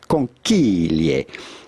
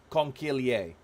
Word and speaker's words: conchiglie: Yeah, so how do you go about pronouncing this with the typical Italian pronunciation? Yes, it's not obvious from looking at the spelling, but it's conchiglie.